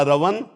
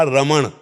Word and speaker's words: रमण: और शुद्ध शब्द है अगर उसमें उच्चारण करते हैं राधा रमण, राधा रमन और राधा रमन, राधा रमन। णा को हटा के ना, ब्रजभाषा में ना का ही प्रयोग।